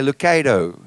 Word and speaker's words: Lucado: Listen to this quote of Max Lucado, who, as the Americans say, Lucado. He says the following: you weren't an accident.